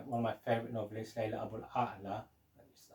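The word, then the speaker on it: Leila Aboulela: Lyrics Ali by one of my favourite novelists, Layla Abul A'la. That's how it should be pronounced.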